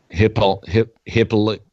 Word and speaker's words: Hippolyta: Well, I'm just giving you the pronunciation of the comic book character that she was playing. Hippolyta.